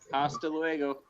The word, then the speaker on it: hasta luego: Hasta luego. You don't pronounce the H.